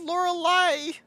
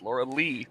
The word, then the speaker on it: Laura Lee: I said Lorelei. Nope, it's Laura Lee.